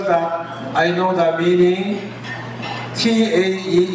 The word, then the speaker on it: Tae: T-A-E English pronounces Tae, but Tagalog Tae, mabaho.